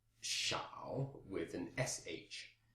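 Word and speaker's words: 少: it has the pronunciation shao with an SH. That's S-H-A-O, third tone.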